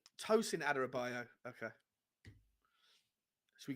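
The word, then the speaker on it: Tosin Adarabioyo: what are you how do you say his name is it adarabi bioyo is that his name adara bioyo uh tosin aderabaio i believe tosin aderabaio okay should we call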